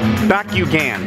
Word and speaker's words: Bakugan: It's pronounced Bakugan.